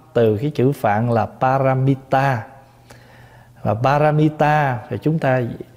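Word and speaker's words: pāramitā: mình là bí mật cái chữ ba la mật này là tiếng Phạn phát âm từ cái chữ Phạn là paramita và paramita thì chúng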